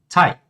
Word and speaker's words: Teig: Ou seja, o G no final de palavras, tá? Ele vai ser pronunciado como K.